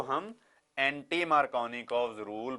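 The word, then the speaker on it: Markovnikov: लिखते हम KOFF हैं पर इसकी प्रोनाउंसिएशन होती है कॉव, जैसे KOV हो तो बोलना वैसे है कॉव और लिखना है कॉफ।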